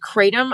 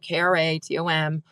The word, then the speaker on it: Kratom: And sometimes I'll spell it out, Kratom, or I'll say it rhymes with schmatum and starts with a K.